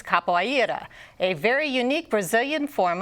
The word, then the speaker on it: capoeira: part in its origin we're talking about capera or as it's pronounced in Portuguese capoa a very unique Brazilian